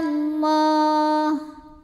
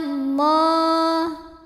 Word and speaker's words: Allah: Wa kana Allah. Lam pada lafaz Allah atau lam jalalah dibunyikan secara tafkhim, sebab huruf sebelumnya yang nun berbaris fathah. Maka cara bacanya ditebalkan, pangkal lidah kita diangkat. Wa kana Allah.